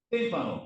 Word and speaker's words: témpano: Témpano corresponde un super. Entonces témpano. Palabra es drúcula. Nos tenemos que colocar acento. Cardume.